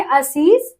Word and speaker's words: आशीष: आपको देखना है कि जो दंत सा है वही कन्वर्ट हो जाता है तालब श में जिसे आशीष अगर हम इसको बोलेंगे इसका उच्चारण करेंगे आशीष है ना आशीष आशीष तो ये थोड़ा सा ऐसे मतलब आपको जो है जीभ को थोड़ा सा टंग करके ऐसे बोलना है थोड़ा सा इसमें कंफ्यूजन